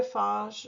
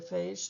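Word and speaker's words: phage: range is fairly narrow a bacteria Fage or a bacteria FAS depending on where you are in the country because there's differences in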